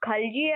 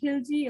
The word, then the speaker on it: Khalji: it is pronounced as khalji or monkey it's pronounced as both so you can say rajin khilji or khalji basically there are few